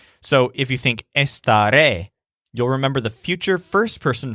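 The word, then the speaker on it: estaré: I stay at home this word is pronounced with the stress on the last syllable which sounds like ray so if you think esta ray you'll remember the future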